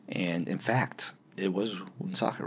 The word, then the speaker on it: Woonsocket: It's spelled with a W, though, so it's Woonsocket if you were just going to look at it. But if you're a native, you say Woonsocket.